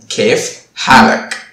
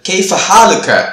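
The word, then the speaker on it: كيف حالك: இதே வார்த்தையெல்லாம் எழுத்து வழக்கு வந்து கேஃப் ஹாலுக்க அப்படின்னு சொல்லுவாங்க. சப்போஸ் நீங்க கூட அந்த மாதிரி கேள்விப்பட்டிருக்கலாம் மாடர்ன் ஸ்டாண்டர்ட் அரபிக்ல. பட் பேச்சு வழக்குல வந்து எந்த ஒரு அரபிக்காரமும் இப்படி உச்சரிக்க மாட்டாங்க. பேச்சு வழக்குல வந்து கேஃப் ஹாலக் அப்படிதான் வச்சிருப்பாங்க. which means எப்படி இருக்கீங்க.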